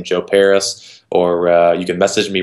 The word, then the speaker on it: Parys: how it's spelled yeah it's just uh PA are Y s so Paris France but instead of an eye a why right because that way